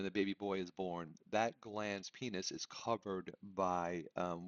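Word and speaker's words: glans: Notice how it's spelled, right? Not g ls like a gland, right? There's no d. It's glands.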